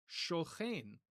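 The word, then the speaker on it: שוכן: And in such an environment in Hebrew, it's just not going to be pronounced as a k. It's going to be pronounced as a ch. So sak becomes shoch. And then the I vowel in Hebrew becomes, because it's stressed, it becomes a long E vowel, what we call tsere. And so sakin becomes shochen.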